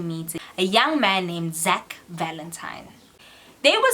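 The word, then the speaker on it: Zak: a young man named Zach Valentine. They were said to have been a match made in heaven, but were they? His name is spelled Z-A-K, which is pronounced Zach, but I'm not going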